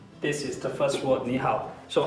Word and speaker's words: 你好: R, O, Ao, H, Ao, How. But there's a mark above it. It shows you the tongue. It's the third tongue.